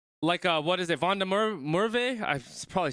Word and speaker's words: van der Merwe: It's pronounced Van der Merwe. Van der Merwe? Is it because the WA is like a V, right? It's pronounced like a V. Van der Merwe.